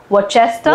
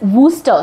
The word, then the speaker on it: Worcester: Okay, so WPI in India, most of the people I hear, they call it Worcester. Worcester, yes, yes. But it's Worcester, so the R is silent, so it's okay.